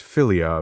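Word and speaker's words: philia: Also considered Christian love, pronounced filia, but spelled with a ph.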